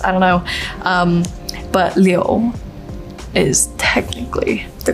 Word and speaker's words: Liu: And then my last name, the correct Chinese pronunciation is Liu, but it acts hard for people, so a lot of people say Liu or Lou, and I actually don't mind. I think Lou is really cute.